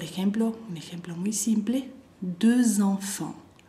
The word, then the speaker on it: deux enfants: Deux enfants, deux el número dos, va a ser deux en la pronunciación, bien redonda la boca. Deux enfants, ahí yo como lo escuchan hago z.